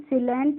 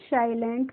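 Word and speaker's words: silent: है हमारा एसई ए तो इसको हम सिलेंट नहीं पढ़ते हैं क्या पढ़ते हैं साइलेंट पढ़ते हैं और साइलेंट का मतलब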